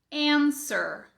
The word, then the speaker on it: answer: Answer. Answer. Ficou claro? Então, nós não temos esse W. Se policia, observa se a sua pronúncia está saindo como answer, pode cortar esse som de I daí.